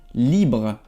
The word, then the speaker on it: libre: Bueno, próxima palabra, libre. Libre. Es como libre, pero no se pronuncia la E, como en español, va a ser libre.